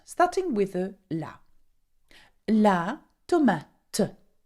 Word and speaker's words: tomate: La tomate. See, the E sound at the end, tomate, okay?